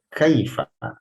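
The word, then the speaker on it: كيف: Tapi kalau sudah baca Quran, jangan sampai kita membacanya kaifa, ini sama bunyinya dengan air, kaifa, air. Tidak seperti itu. Kaifa. Fa-nya itu diucapkan dengan fasih. Caranya dengan menempelkan gigi seri atas, ya.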